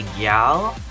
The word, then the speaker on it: gyal: It's just, instead of saying girl, which is G-I-R-L, we would say gyal, which is G-Y-A-L.